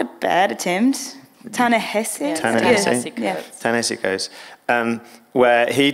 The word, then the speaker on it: Ta-Nehisi: written by an author, a wonderful writer called Tennessee Coates. And I'm probably pronouncing his name wrong, is that right? Not a bad attempt. Ta-Nehisi?